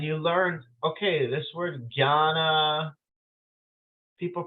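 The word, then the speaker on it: jñāna: you so this you you learn how to say it like Gianna but then you hear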